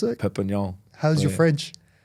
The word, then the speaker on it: Perpignan: Perpignan, yeah. Is that how you pronounce it? Perpignan.